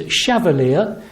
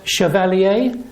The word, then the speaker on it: Chevallier: get it right uh the name rhymes with Cavalier it is chavalier and not Chevalier people of a certain